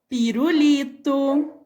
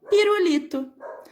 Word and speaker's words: pirulito: Veja só, cara, pirulito, certo? Mesmo ele estando entre duas vogais, mas ele tem um sonzinho mais fraco.